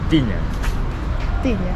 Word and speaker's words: tinha: But when you conjugate it in the past, it's tinha. Tinha. And you can still hear the T that sounds like the T. Okay. You go to Brazil, they say tinha.